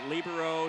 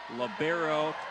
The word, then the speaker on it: libero: let that one go libero is is uh I've argued with some people about that I prefer libero sometimes the term is labero the girls high school